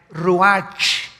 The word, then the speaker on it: ruach: El ruach, que se escribe R-U-A-C-H, ruach en el hebreo, y se pronuncia igual ruach.